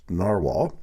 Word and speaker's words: Nahvalur: So back in August, I did a review of this Narwhal, now pronounced Narwhal, Schuylkill Dragonet Sapphire.